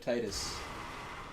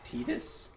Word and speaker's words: Titus: everyone loved it yeah the real pronunciation of Titus I hate it when people say his name is tetus tetus the is happening he's got yeah he's got like a Greek name it's like uh that's like a that's like a real name that's not like why would someone think it was tetus my Mediterranean blood is